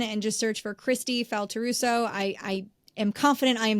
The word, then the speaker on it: Faltorusso: Faltorusso.